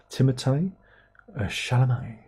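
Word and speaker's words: Timothée Chalamet: see this film back early Dylan that's we Timo shalam in it remember that that's how his name is pronounced Timo shalam a Tim a sh shal in stereo for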